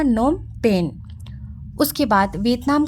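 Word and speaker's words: Phnom Penh: Cambodia Cambodia का capital नोमपेन अब पीएच जो है गाइस वो साइलेंट है तो क्या पढ़ाएगा नोमपेन उसके बाद वियतनाम का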